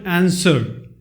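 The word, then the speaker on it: answer: word in the word आंसर आंसर अब यह देखिए इसमें मैंने डेली में छपे इस में डब्लू जो है वह साइलेंट वर्ड ऐसा जो बोला नहीं जाता है तो ऐसे कई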